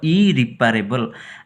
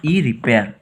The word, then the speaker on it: irreparable: इरिपारेबल नॉट इरिपारेबल तो कहते आउ थे स्पेलिंग कौन मन रख इरिपारेबल IRREPARABLE इरिपारेबल नॉट इरिपेयर.